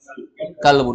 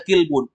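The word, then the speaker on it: كلب: hadza kemudian kalau ada Kaf Lam Ba pasti Bacanya apa kalbun kan enggak mungkin dibaca kilbun gak ada kilbun kalau kilbun Apa artinya gak ada apalagi dibaca kalaba gak ada kalaba yang ada kalbun itu artinya anjing baik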